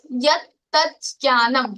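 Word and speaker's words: यत्तज्ज्ञानम्: So you have to split the word yat tat jnanam.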